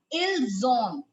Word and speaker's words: ils ont: Now, when you have to pronounce avoir, what is the difference? Ils ont.